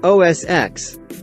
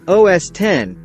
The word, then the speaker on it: OS X: It's actually said OS X, because of the fact that it is the 10th operating system developed by the firm. X is just a Roman numeral that means 10, which could be part of the confusion.